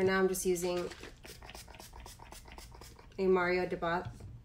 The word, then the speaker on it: Mario Badescu: soon but for now i'm just using a mario deboss mario badescu and i said it wrong but it's the